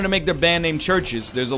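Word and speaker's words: CHVRCHES: Foods is playing churches it's just pronounced churches and hell I pronounced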